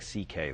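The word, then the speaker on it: Szekely: My Hungarian grandfather's name was C.K., but it's spelled, it looks like, it's a mess. It's S-Z-E-K-E-L-Y, and it sounds like C.K., though.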